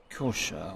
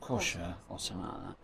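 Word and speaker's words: Xhosa: the clicking language called it's spelt XH OS a let's pronounce kosher or kosher and there's a language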